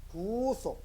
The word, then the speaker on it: 구속: 그 발음을 좀 잘 해야 되는데, 쇠고랑 차는 구속은 구속 짧게 발음하고, 영혼 구원받는 구속은 구속 좀 길게 발음해야 됩니다. 한번 따라 해볼까요? 구속.